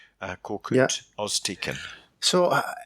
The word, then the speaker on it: Korkut: How do you pronounce the illustrators at Karkut? Korkut, Yeah.